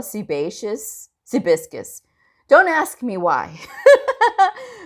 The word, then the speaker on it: sebaceous: And one day this other coder was like, you know, it's sebaceous. And I go, is that how it's pronounced?